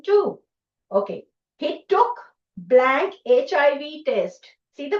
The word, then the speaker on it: HIV: What a better pronunciation. H pronunciation. I have given the pronunciation. It is a y c h i v h. What is this sound?